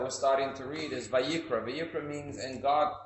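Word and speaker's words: ויקרא: If you add the aleph, which is a silent letter, Vayikra, it becomes, and God called.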